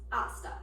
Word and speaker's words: hasta: first word is hasta it is spelled like pasta with an H but H is silent in the pronunciation therefore it is pronounced hasta the second word is